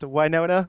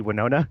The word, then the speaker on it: Wynonna: is that it's why it's specifically pronounced Wynonna which is weird every time they say it cuz in my head it should just be winona yeah like just like